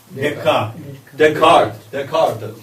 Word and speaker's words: Descartes: How do you pronounce? Descartes.